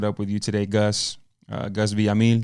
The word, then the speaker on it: Gus Villamil: Gus Villamil. Did I say it right? Yeah, you did.